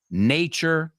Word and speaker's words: nature: Love, nature, que lo pronunciamos con esa ch.